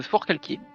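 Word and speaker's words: Forcalquier: Con sur Fort Calquier. Non, c'est Fort Calkier. Ah, c'est Fort Calquier du coup. du coup big up à big up à Roman. qui nous avait parlé de Fort Calquier euh la maison de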